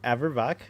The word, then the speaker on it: Averbach: Averbach Cats. Like Bach.